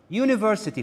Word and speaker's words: university: be careful another word University for example, university begins with vowel but I hear just a consonant sound.